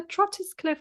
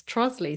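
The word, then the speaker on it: Trottiscliffe: So just to just where are all the letters gone in between? Doesn't make any sense. But I remember the Oh, it's a Trotis Cliff Country Park. Oh, it's Trosley silly. Like what? Who made that up?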